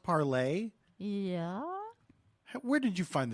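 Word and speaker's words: Parler: on I've been on parlor parlay don't you know what it's like Emily and Perry no yeah it's pronounced parlay yeah where did you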